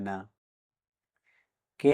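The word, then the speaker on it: knack: কে N double E নি মানে হাটো এখানেও কে এর পর এন লেটার আছে তাই কে লেটার দি সাইলেন্ট থাকবে মানে উচ্চারিত হবে না কে এন আইটি নিট মানে বনানু এখানেও কে লেটার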